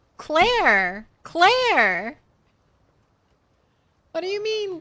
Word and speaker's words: Claire: And then I don't know why on the phone um on the phone people always like when I say my name they're always like Clay. I'm like no Claire.